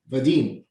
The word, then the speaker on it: Vadim: what do you mean vadim wadin how are you saying i'm saying with a v like a hard v but this is like